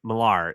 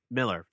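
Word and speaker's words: Millar: their partnership with uh Mark marar is in Miller why I keep doing that because it's spelled marar but it's whatever I'm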